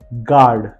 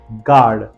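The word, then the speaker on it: guard: बाद यू है और यू के बाद में भी ए ई आई ओ आ रहा है वोल आ रहा है इसलिए वहां पर यू साइलेंट है गार्ड second word is guest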